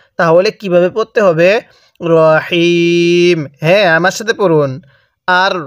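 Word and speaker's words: الرحيم: সহি শুদ্ধ হবে না তাহলে কিভাবে পড়তে হবে রাহিম হ্যাঁ আমার সাথে পড়ুন আর রহমানির রাহিম হ্যাঁ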